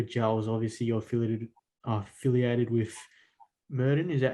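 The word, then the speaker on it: Maurten: Obviously, you're affiliated with Merton. Is that how you pronounce it, or Morton, yeah. Morton?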